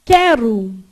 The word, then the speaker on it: quero: Se eu falar quero, esse U é pronunciado? Você fala quero. Você fala quer. Não é isso? Então, olha o que acontece. Formou dígrafo. Você não pronuncia isso aqui, você fez assim, ó.